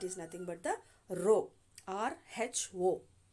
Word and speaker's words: rho: nothing but the row r h o we are going to write it as rh1 pronunciation is rho rho is equal to